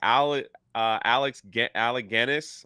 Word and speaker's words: Alec Guinness: They should be grateful, like Alec Guinness.